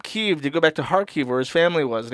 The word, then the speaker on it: Kharkiv: Kharkov is the Russian pronunciation for Kharkov. Kharkiv is the Ukrainian pronunciation.